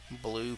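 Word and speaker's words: Bilyeu: off for BL sorry actually corrected on that SP b i l Yu pronounced blue fair enough one two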